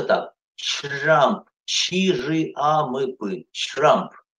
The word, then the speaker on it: Trump: Trump, чи-жи-а-мы-пы, Trump. Т перед ре, ре перед т, после т, чтобы ре не зарычало, англоязычные смазывают его, вот почти все. Буква ч, Trump.